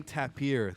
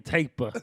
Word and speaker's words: tapir: The Malayan tapir, the largest species of the tapir family. Hey, I ain't a hater, but I believe it's pronounced the Malayan taper.